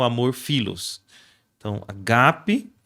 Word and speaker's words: agape: divino é o amor ágape, né? Primeiro que a pronúncia não é ágape, mas é agape, né?